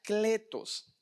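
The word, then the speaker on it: κλητός: La palabra llamado viene de una palabra griega que se pronuncia kletos.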